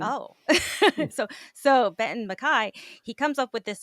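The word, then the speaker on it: MacKaye: was absolutely fascinating um what was it Benton McKay so he proposes m is the Scottish pronunciation oh so so Benton McKai he comes up with this idea of a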